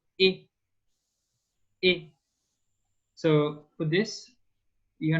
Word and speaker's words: et: And the beginning of eternal is exactly the same sound. Et.